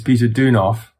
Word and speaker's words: Peter Deunov: I'm going to ask you to pronounce his name because I'm afraid I'll mispronounce it. Well, he has his family name, which is Peter Deunov, and then his spiritual identity is Beinsa Duno.